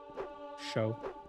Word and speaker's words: chauve: Show. Yeah, I know with French, like the stress is always put on the last syllable, if I'm not mistaken.